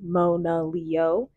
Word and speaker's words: Monaleo: below that you have the phonetic pronunciation of her name Mona Leo and then almost as